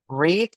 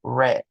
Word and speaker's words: read: pero se pronuncian distinto como el verbo leer que se escribe bueno se pronuncia en presente read y en pasado se pronuncia read pero se escriben igual solo lo que cambia la pronunciación y la tercer categoría